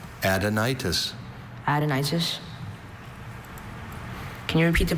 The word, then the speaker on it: adenitis: Any concern about the schwa was cured when he knew that root for gland.